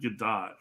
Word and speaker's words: Gadot: Yeah, we were just having our debate: Gadot or Godot. I've heard her pronounce it Gadot, so Okay. I'm sticking with the T.